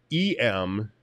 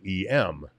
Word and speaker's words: em: the heck is an em and that's that's it's actually pronounced m like the letter m because that's where it